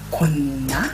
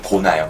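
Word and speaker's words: gonna: 읽어 보실래요 아 am 곤나 곤나 발음은 고나요 고나 고나 어 그래서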